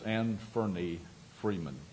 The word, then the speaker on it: Anthony Freeman: Yesterday afternoon, investigators with the sheriff's office served uh six warrants uh on Anthony Freeman and the pronunciation is Anthony Freeman.